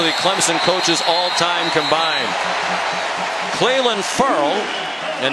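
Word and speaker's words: Ferrell: coaches all-time combined cleland furl and he did tell us it's pronounced furl as in referral sent gillaspi backwards here's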